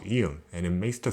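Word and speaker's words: 이응: Or to be simple, it is a silent letter where you just have to pronounce the vowel it combines to.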